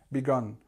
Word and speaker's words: begun: it go back practice try the different ways of saying it begin began begun because a are very similar it depends where your what your first language is but make sure you get the differences because a began begun